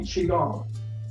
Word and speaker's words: Qigong: So it really depends on what part of Asia you're from, but it's all the same Qigong, and it's all pronounced Qigong, except in Korea they call it Qigong.